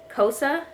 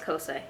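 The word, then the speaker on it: Xhosa: it be and why cosa i think is how you say it and it throws me because it's spelled with an x but i'm fairly certain it's pronounced cosa and my camera's overheating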